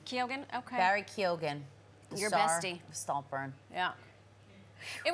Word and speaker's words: Keoghan: How do we pronounce Barry's last name? Did we decide? Keoghan. Keoghan? Okay. Barry Keoghan.